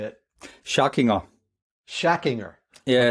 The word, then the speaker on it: Schackinger: Schackinger. Schackinger. Yeah, okay. It's more like a German pronunciation, yeah.